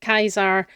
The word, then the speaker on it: Caesar: Um, was, you know, the pronunciation in Latin with the hard C instead of the soft C.